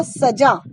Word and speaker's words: सजा: जैसे मैंने देखिए एक शब्द लिखा है सजा, अगर मैं हिंदी का ज बोलूंगी तो होगा सजा। सजा का मतलब होता है सजाना, किसी भी चीज को डेकोरेट करना। लेकिन अगर मैं ज के नीचे बिंदु लगा दूंगी, नुक्ता लगा दूंगी, तो वो ज ना रहकर बन जाएगा ज, सजा।